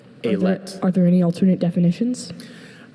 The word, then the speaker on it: alet: Are there any alternate pronunciations? Just the one. Alet.